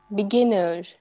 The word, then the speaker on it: beginner: beginner, बिगिनर, are silent है।